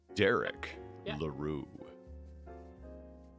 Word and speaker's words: Derek LaRue: I know how to pronounce this person's name now. You ready? Derek LaRue. Oh. It's French.